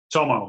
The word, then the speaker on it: Tomo: in Orlando his first name is am I pronouncing right Tomo right Tomo yeah that's actually not even my legal name